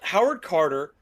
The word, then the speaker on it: Howard Carter: Howard Carter and Lord Carnarvon.